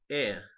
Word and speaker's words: heir: Right. Air. Air. Yeah, it's not. You don't need to speak it.